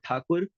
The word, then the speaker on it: Thakur: And the word Tagore comes from the mispronunciation of the word Thakur from the Britishers.